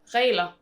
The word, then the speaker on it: Regler: Regler. There's, So it doesn't make perhaps not a lot of sense when you read it out. It's one of those stupid silent letters. It's a silent G.